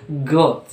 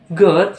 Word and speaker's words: GOAT: Pronounce exactly like the animal. Jadi diucapkannya yaitu sama seperti GOAT untuk binatang, seperti itu ya. GOAT should only be used